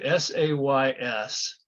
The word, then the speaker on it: says: S-A-Y-S is says. Yes. It's the S and then this phonetic sound and then the Z sound, says.